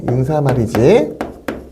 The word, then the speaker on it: 인사말: 발음은 인산말은 없어요. 인사말이지. 인산말. 이거는 여러분의 발음이고요. 자, 그러니까 여기 좀 조심해야겠죠. 이렇게 만약에 인사말 니은이 있으면 얘가 맞았겠죠. 그렇지만 분명히 발음은 인사말이야.